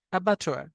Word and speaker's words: abattoir: এটা কিন্তু double T বলাটা কিন্তু স্ট্যান্ডার্ড না। TTOIR এভাবে বলবেন, ABATTOIR, অ্যাবাটোয়ার।